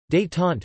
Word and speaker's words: Détente: Détente, French pronunciation, détente, meaning relaxation, is the easing of strained relations, especially in a political situation.